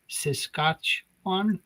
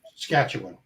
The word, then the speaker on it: Saskatchewan: Saskatchwan. Saskatchewan. Saskatchewan.